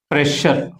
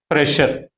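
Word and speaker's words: pressure: అలాగే ఎస్ మళ్ళీ యు వచ్చినప్పుడు, అంటే double S followed by you. Example ప్రెషర్. ఇక్కడ కూడా మళ్ళీ ఎస్ సౌండ్ షా లాగానే వస్తుంది. అంటే షూ లాగా షా లాగా పలుకుతుంది, సా లాగా కాకుండా, జా లాగా కాకుండా. ప్రెషర్.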